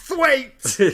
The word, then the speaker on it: Twat: But then he says it's pronounced Thwaite.